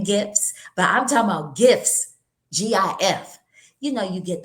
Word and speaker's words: GIF: A voice call is second, and even just a gift, a GIF is how you say it, not a gift.